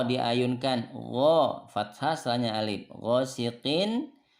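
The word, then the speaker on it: غاسق: Ghosiqin ini izhar ya. Nun sukun atau tanwin bertemu dengan hamzah. Ini dibacanya jelas nunnya. Beda dengan tadi, ini nunnya ikhfa. Min, tapi kalau ini jelas nunnya. Ghosiqin, in. Nah, jelas innya.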